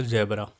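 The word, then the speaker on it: zebra: इसको याद करने का एक तरीका है कि ZG, G और Z से बनता है आपका ज़ेब्रा। ज़ेब्रा का सही प्रोनाउंसिएशन होता है जिब्रा।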